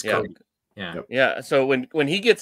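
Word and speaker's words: Cobee: They might not be statistically one of the best defenses, but when, you know, it's spelled C-O-B-E-E, I think, but it's Kobe.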